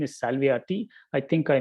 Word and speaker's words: Salviati: the heliocentric uh copenhagen viewpoint the name is salviati i think i mispronounced it last time um yeah in addition